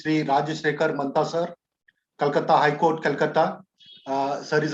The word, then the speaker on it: Calcutta: Yes, it is the Calcutta High Court. The pronunciation is still CALCUTTA at Kolkata.